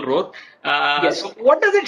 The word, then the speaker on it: Rorr: so Rorr, pronounced the normal Rorr.